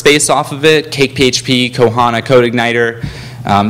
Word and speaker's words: PHP: PHP I know what you're thinking it it's pronounced FIP it's not I looked it up it's actually PHP so let's learn about PHP how can we